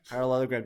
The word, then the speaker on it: parallelogram: So it's like parallel. So you know how to spell parallel. It literally has the word parallel there. And then ogram. Ogram. So when you pronounce it, parallelogram. Okay, parallelogram. Yeah? Parallelogram. Parallelogram. It's parallelogram. Okay, so parallelogram.